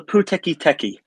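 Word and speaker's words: Pūteketeke: Colin, how exactly do you pronounce that? It's called the Puteki Teki.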